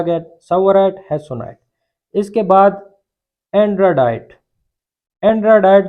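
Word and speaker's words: tsavorite: एक को हम बोलते हैं सबवराइट गार्नेट, टी से शुरू होता है लेकिन टी यहाँ पे साइलेंट होता है। अक्सर लोग यहाँ पे भी प्रोनाउंसिएशन में गलती कर देते हैं, वो टसवराइट बोलते हैं, हालांकि ये सबवराइट गार्नेट है।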